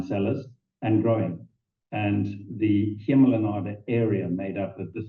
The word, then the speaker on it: Hemel en Aarde: We're looking at the Emil and Arden Valley. Did I pronounce that correctly? Very close. Hemel en Aarde means heaven and earth in Afrikaans and Old Dutch.